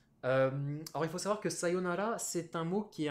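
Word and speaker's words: さようなら: prononcer un oui s'il faut pas dire ça yuna là c'est sa yo sayonara je pense que c'est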